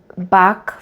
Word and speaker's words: Bach: He came from a Welsh family, so the Welsh pronunciation is Bach. In England, he was called Bach. So either way, I think both names were used depending. His actual pronunciation would have been Bach in the Welsh tradition, more like Bach.